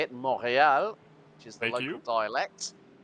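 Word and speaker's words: Montréal: And I said, if you go to Canada and you ask one of the locals how it's said, the T is very clearly silent.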